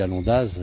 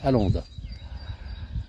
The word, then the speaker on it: Alondaz: Je dis Alondaz, je ne la prononce pas correctement, c'est Alonde, en Savoyard.